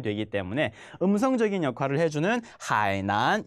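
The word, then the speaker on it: 海南: 그렇기 때문에 문장 속에서 들리는지 안 들리는지를 확인을 해주면 되기 때문에 음성적인 역할을 해주는 하이난 이 표현을 꼭 마음속에 하이난이라고 읽는 단어가 나오는지 안 나오는지도 함께 확인해 볼 거예요.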